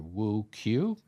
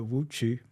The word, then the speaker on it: Wu Qu: glad to have Dr Woo Q did I pronounce that correctly uh wo chu but CH yep sounds more like a CH hu CH okay yeah